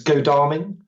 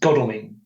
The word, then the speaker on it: Godalming: I think people generally pronounce it differently, whether it's Godalming is a common mispronunciation, but I believe it's pronounced Godalming.